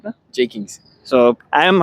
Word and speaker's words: Jeakings: J Kings. So, I am right in pronouncing his name.